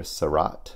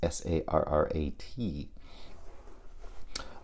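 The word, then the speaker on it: Sarnet: Directed by Rainier Sarat. It's Sarrat.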